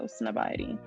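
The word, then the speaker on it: Snobiety: reel by heist nobody snob id is literally spelled like society but instead of the so it's not so snobity was sent to me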